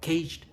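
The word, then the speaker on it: CAGED: lại nó thành cái tiếng Anh, nó thành đọc là cage.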